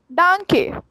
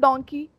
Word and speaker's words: danke: Thank you is danke. Danke. It's not donkey. Some people say donkey. It's not donkey. It's danke. Danke.